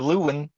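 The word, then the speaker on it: Lewan: You've been doing Luan since day one. Well, he is Taylor Luan to me. You it is. So you gotta say it like Joe Rogan. He's like a Taylor Lewin.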